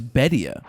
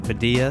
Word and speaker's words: Bedia: do you actually pronounce his last name? He says it's Bedia. But he doesn't care when people pronounce it Badia?